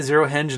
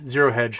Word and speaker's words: Zero Hedge: daily mail oh did i say zero hinge not hedge zero hedge sorry i will mispronounce things